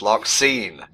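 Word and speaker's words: Larxene: she's got cockroach antenna it's larine get it right whatever is it just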